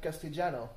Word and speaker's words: Castellano: And in Latin American Spanish, they pronounce it like pretty much a J. If I were to say Castellano with pronouncing it as if I were Latin American, it would probably sound something like Castellano, you know.